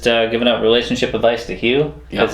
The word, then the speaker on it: Hugh: She's just giving out relationship advice to Hugh because his name rhymes with poo.